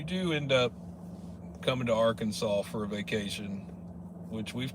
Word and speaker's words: Arkansas: should check it out how come the S at the end of Arkansas isn't pronounced because it's state law